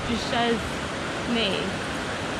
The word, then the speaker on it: Duchesne: Yeah, Duchesne. Yeah, I don't know. It's a French name. But like, it's not, you can't say it Englishly. Like, it's just Duchesnay.